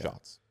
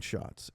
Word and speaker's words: Schatz: Tell us a little bit, and your name is pronounced Schatz, right? Did I say that right? Yes, yeah. Schatz. Schatz.